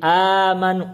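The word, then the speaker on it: آمنوا: fathah Berarti ada mad tapi amanu makanya bacanya dua harakat amanu itu mad badal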